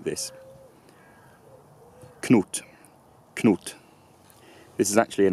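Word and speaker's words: Cnut: And bear in mind, in Old English it's only one syllable, so it's not Knut, but it's Knut, Knut.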